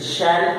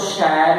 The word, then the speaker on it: shall: आज हम एक मॉडल ऑक्सिलरी शैल के बारे में डिस्कस करेंगे। SHALL ऐसे स्पेलिंग होता है इसका। ये अगर स्ट्रॉन्ग हो तो शैल कहते हैं, शैल शा ला।